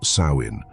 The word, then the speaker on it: Samhain: date back to the ancient Celtic Festival of Samhain pronounced sawin the Kelts who lived